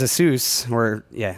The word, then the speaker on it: Asus: I personally use Asus, Asus, I believe is how they pronounce it.